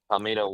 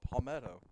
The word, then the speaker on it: Palmetto: Palito wanted it more. What did you just call him? Palito. I said Palito. Palmetto. Is that not how you pronounce it? No. Palmetto.